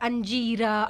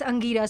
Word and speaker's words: Angira: But it's very nice of you because if somebody pronounced my name, because I get this a lot, Angira, Angira. But in the third second, I'm like, hey, just a moment, it's Angira.